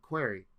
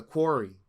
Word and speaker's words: Quarry: the query the the query the ever since I've been playing that game I still don't know how to say the title the Quarry the Quarry there you go the Quarry that is